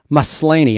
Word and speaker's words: Maslany: So, the actress who plays She-Hulk and Jennifer Walters is Tatiana Maslany. I'm probably mispronouncing her last name, y'all. I'm sorry. I'll just spell it. Tatiana, Maslany.